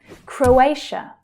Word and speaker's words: Croatia: So the middle syllable is the stressed one here. Croatia, Croatia. And again, the A as in day vowel sound. Croatia. The TIA here is actually pronounced as sh, sh.